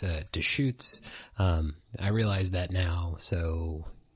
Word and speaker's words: Deustche: I realized in this episode that I totally butchered the pronunciation of the brewery for this beer. It's Deustche.